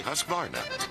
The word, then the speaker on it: Husqvarna: now how to say husqvarna you say husk like corn and barn like varnish without the ish and nah